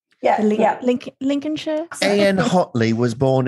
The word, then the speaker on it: Lincolnshire: was born in Grimsby Lincolnshire because that's how they say it I would say Lincolnshire Lin Shir like Mike headphones mik